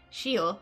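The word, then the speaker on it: Seele: surrounded by the enemies, Seal, is that how I pronounce Sela? I think it was Sela, wasn't it? Shiel is how they said it in Chinese, but I know that's not correct in English.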